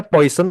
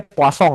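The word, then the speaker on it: Poisson: Jadi namanya poison tapi setahu gua ini orang Prancis ini dibacanya poong ya atau gua alay aja ya kayak kasong gituong rasio.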